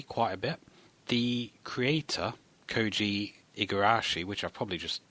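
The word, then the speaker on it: Koji Igarashi: of Castlevania 3 quite a bit the Creator koi igarashi which I probably just mispronounced no you got it he he is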